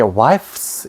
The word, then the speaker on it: wives: wife까지는 소리가 나는데 s가 붙으면 발음이 안 되는 거야. wives 발음이 안 돼. 그래서 똑같지만 무성음을 유성으로 바꾸는 거야. fu의 무성음이 뭐죠? fu이잖아. 그래서 복수할 때는 wives 이렇게 하면 훨씬 발음이 좋다고. wives 이라면 발음하기가 무지 힘들어. 그리고 이렇게 하면 발음하기가 쉬워.